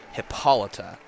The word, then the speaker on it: Hippolyta: a couple of times it is pronounced hippolyta okay so you can